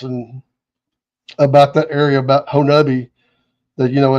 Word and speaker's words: Honobia: Let's go see if we can't see one, and we went up to Oklahoma at Honobi, which everybody thinks it's pronounced Honobia, but it's Honobi.